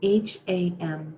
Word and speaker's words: ham: on the inhale the mantra is ham spelled h-a-m but pronounced ham on the exhale the mantra is